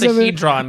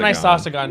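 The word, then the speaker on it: icosahedron: Like, guys, It's I'm an just isosahedron, Right. the correct name No, of isosagon. it. It's not an isosagon.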